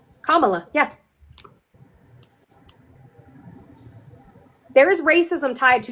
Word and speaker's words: Kamala: Camala. Kamala.